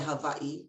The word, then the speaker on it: Hawaii: And he was in the military when my dad came to Hawaii, and we say Hawaii, that's how we usually pronounce it.